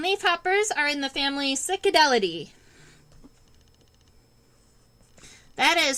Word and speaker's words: Cicadellidae: All right, so we're gonna be doing leafhoppers, and leafhoppers are in the family Cicadelidae. That is spelled Cicadellidae, Cicadelidae.